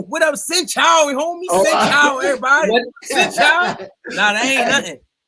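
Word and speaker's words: xin chào: When you say sin chow, that shit wrong. Yeah. Wrong. I said it wrong. You said it wrong. Say sin chow. Sin chow.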